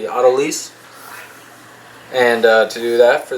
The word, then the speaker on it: Autolyse: Alright, so first I'm going to do an Autolyse or Autolyze. You might hear different pronunciations. I believe it's correctly Autolyse.